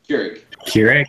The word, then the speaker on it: Keurig: Keurig.